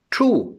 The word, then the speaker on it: two: True, TWO, TWO, W is silent here.